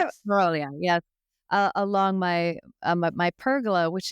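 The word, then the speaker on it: morrowii: I never can Moroi, pronounce it yes, correctly. yes. Morawii, yes.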